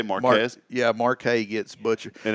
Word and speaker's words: Marquez: the hunel police department her last name is spelled exactly like the town but hers is not pronounced Marque it's Marquez ah okay so more